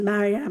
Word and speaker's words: Maryam: life I always said my name is Mary I'm how do you spell that m-a-r-y-a-m oh how weird you know it's not with an eye and I say no it's the Persian version and I don't know